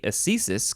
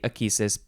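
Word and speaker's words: ecesis: is thesis or akesis because it is spelled e-c-e-s-i-s so some people in I guess proper English say a thesis because that's how the the sea is supposed to be pronounced in this context but some people also say aquisis which I'm guessing is from a Greek thing okay a thesis noun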